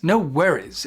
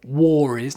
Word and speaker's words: no worries: problem but no worries no worries it sounds really good make sure you pronounce it correctly no W worries not war warries no worries no worries